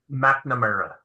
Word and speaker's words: McNamara: McNamara.